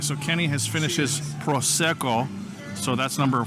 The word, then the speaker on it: Prosecco: How do you pronounce it again? Prosecco.